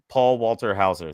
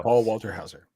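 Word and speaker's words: Paul Walter Hauser: It's Walter, not Walker. Paul Walter Hower. Paul Walter Hower. There you go. Paul Walter Hower.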